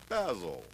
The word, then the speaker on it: Basil: remember this model too name is basil not basil oh spice although he's yelling at me um oh basil basil that's right it rhymes with Razzle as in as in